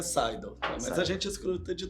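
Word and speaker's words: SDL: Isto, isto e a pronúncia é sidal, mas a gente escruta de tudo, né?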